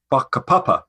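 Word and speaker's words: whakapapa: there's a concept called baka which sounds a bit rude it starts with a wh but it's pronounced with an f and that's their idea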